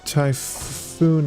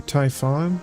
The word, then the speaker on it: Typhon: So, we're trying to get the Typhoon material next or Typhon. Typhoon. Typhon. It's with one O.